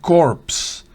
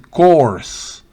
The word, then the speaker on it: corps: etcétera los cuerpos voluntarios y se pronuncia entonces cores recuerde si usted pronuncia